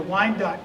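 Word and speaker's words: Wyandot: preach to i did not know how to pronounce the tribe but i got it but to the wine dot people who lived in the the sandusky area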